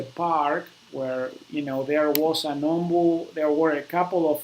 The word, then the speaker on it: ombu: Okay, ombud trees are common there. The ombud tree, ombu, okay, is actually how it's pronounced.